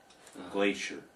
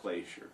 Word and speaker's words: glacier: what is a glacier glacier i suppose if you were in america you pronounce it glacier what is a glacier